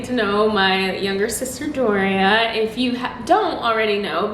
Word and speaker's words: Doria: my channel name is just my first name doria and then my middle name eve so it's